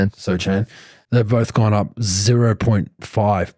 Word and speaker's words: Sochan: Sochan.